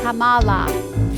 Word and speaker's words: Kamala: doesn't seem very nice say her name get it right sounds like Kama Kamala she has grit she